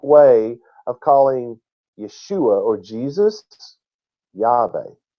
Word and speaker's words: Jesus: roughly 600 years ago the J made the ye or Y sound it was still pronounced yesus even though it was spelled with a J it was still pronounced